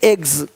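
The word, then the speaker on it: eggs: जैसे कि यहाँ पे रूप्स, यहाँ जा साउंड नहीं आएगा, लेकिन यहाँ पे एक्स नहीं एग्स।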